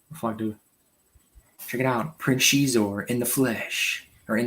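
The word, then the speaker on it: Xizor: But Prince Shizor, which as a kid, I never knew how to pronounce his name. I always thought it was Scissor.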